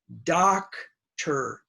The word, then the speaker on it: doctor: that do you know most students will say dope ha but it is not dough it's da that's the short a doctor doctor ok so remember these